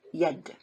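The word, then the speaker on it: يد: In this case, you read this word as yad.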